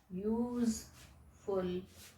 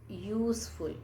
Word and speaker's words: useful: pronounce useful use okay use full thing all right so though it is starting with the children the vowel word u uh okay but the sound is useful y w y o